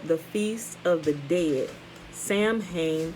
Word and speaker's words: Samhain: feast of the dead samhain pronounced salween and was on november